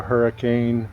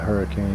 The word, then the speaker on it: Hurricane: Sand Mountain and the hurricane OHV trails I shouldn't say hurricane cuz that's not how we pronounce it in Utah the town uh is called hurricane that's how we can